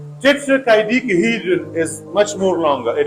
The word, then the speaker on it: tetrahedron: Another example, in tetrahedron, the first syllable and the third syllables have secondary stresses, and the sixth syllable, that is second last syllable, has the primary stress. See, now we have two secondary stresses. And first syllable tetra, and in third syllable chi. But the main stress is on sixth syllable he.